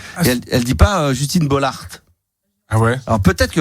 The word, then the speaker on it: Bollaert: son propre nom et elle prononce pas le T. Justine Bollaert. Ah ouais? Oui. Alors ça c'est un truc de barre. J'ai bien réécouté 10 fois et elle dit pas Justine Bollaert.